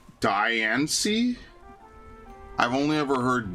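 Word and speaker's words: Diancie: Deiancy is pronounced like the diamond. Diani. I've only ever heard Deionci, but I guess so.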